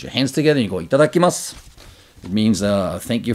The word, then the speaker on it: itadakimasu: this you close your hands together you go itadakimasu it means uh thank you for uh giving